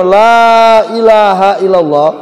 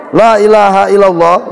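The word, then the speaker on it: لا إله إلا الله: lamnya hidup tinggal Alif itu panjang dua ketukan kalau kita bacanya Laa Ilaha Illallah ya lah itu kita baca panjangnya dua ketukan benar artinya tidak ada Tuhan selain Allah tapi kalau lah Yang dua ketukan itu kita pendekkan Lailahaillallah ya maka dia berubah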